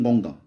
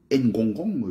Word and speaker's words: Ngonga: Il s'appelle Ngonga. Et quand il veut même prononcer son nom, il veut franciser son nom. Ngongong, je m'appelle le Ngongong.